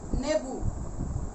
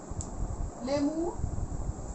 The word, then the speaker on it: লেবু: যেমন লেবু, এই লেবু শব্দটিকে কোথাও কোথাও উচ্চারণ করা হয় নেবু, আবার আমরা বলি লেবু, নানান ভাবেই হয় নেবু, লেমু। এরকম অঞ্চল ভেদে উচ্চারণের পরিবর্তন ঘটে, অর্থের কিন্তু পরিবর্তন নয়, এটি খেয়াল করতে হবে।